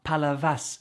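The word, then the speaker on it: Palavas: there's tons of exceptions we're told the s's at the ends of words don't get pronounced so we happily learn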